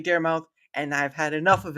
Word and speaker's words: Daramouthe: look, the E is silent. That doesn't mean it's not seen.